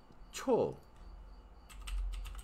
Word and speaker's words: 초: Y cho, segundo, cho, en coreano se dice cho.